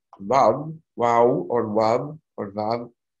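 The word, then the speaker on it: וו: very close to V, so V, Vav. They can't say V either, but V. So in any case, there's some people still say W. Yemenites will pronounce it as W, Yemenite Jews, but in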